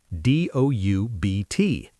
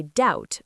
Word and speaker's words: doubt: D O U B T. You say doubt, not doubt. B.